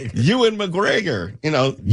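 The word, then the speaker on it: Ewan: H I always like how you cor correct me on uh Ian McGregor's name. What you mean as opposed to Euan?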